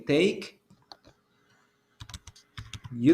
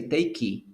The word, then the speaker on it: take: When you say take, you don't pronounce the letter E. Take. You don't say takey. No, you only say take. So the last sound that you produce is the K.